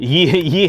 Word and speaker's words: ye: The Y is a thorn. It was a printing press, like shorthand TH. So it's not an actual Y. It's called a thorn. And they would just do that real quick. And it was to stand in for the TH.